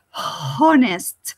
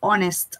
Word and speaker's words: honest: about honest remember that the word or the additive honest is with a silent age you don't say hornist like in hotel or house the word honest the age doesn't sound you say honest okay or maybe honesty with